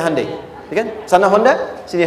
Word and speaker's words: Hyundai: Kita bisa kita dari tekad sehingga ketika di sana bikin Honda sini Hande Hyundai kan dibacanya Hande ya kan sana Honda